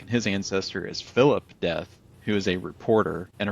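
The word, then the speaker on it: Deth: And just for anyone listening, death is spelled D-E-T-H. It's not like dead death. It's totally different.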